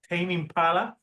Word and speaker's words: Tame Impala: So the album that we're going to talk about is about the artist Tame Impala. That's how you say it, right? Yep. Tame Impala.